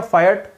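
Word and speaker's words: fiat: अब ये फिएट या फायट इसका प्रोनाउंसिएशन होता है।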